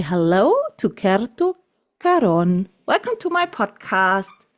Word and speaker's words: Kerttu Karon: So I try to pronounce her name correctly and I say hello to Keru Karon.